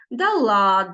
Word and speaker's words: дала: носили спала спало спали але в деяких дієсловах наголос падає на закінчення дала дало дали хоча дати бути була